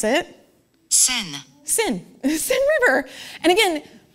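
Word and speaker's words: Seine: the United States they would call it like scen that's the scen river but they actually pronounce it sin sin sin River and again you know what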